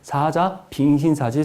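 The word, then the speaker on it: 사자빈신사지: 발음 잘 하셔야 돼요. 사자 빈신사지 석탑입니다.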